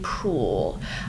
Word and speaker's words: Proulx: The Shipping News by Annie Proulx. I Proulx Proulx Proulx Proulx Proulx Proulx. I looked this up and I have to remember that that's how you say it.